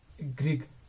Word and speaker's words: Gregg: और दूसरी जो होती है ग्रिग या ग्रिज भी आप कह सकते हो। ग्रिग शॉर्ट हैंड है, ग्रिज शॉर्ट हैंड, ठीक है। प्रोनाउंसिएशन पे ज्यादा जोर मत दो, ग्रिग शॉर्ट हैंड कहते हैं।